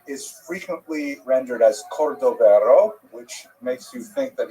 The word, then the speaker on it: Cordovero: his matzeva, his gravestone, it's Cordoero. It's a Portuguese spelling, but it's kind of a strange thing to pronounce in Hebrew, so it was sort of mangled into Cordovero, and that has become the standard, even though it's probably not correct.